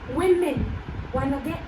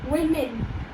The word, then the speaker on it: women: And when we say it while speaking, it will be WI. Okay? So that's how you can pronounce this word. It is women. Once again, women.